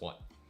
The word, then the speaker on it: Watt: But, you know, in Cantonese, my last name is Watt. You know, it's pronounced Watt. In Mandarin, it would be.